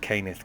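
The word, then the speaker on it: Cannith: Sorry, Canith. It's pronounced Canith crystals.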